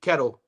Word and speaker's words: Ketelo: I like Sekhukhune Ketelo and you pronounce his last name like a kettle of coffee, a kettle of tea. Ketelo. Sekhukhune Ketelo, I like it.